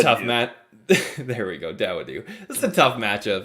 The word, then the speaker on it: Dawodu: Dawodu. He sounds like me trying to pronounce somebody's name.